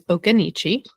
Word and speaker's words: Occoneechee: I also say it wrong sometimes, but I'm like 98% certain at this point that the name of the park is Okanichi.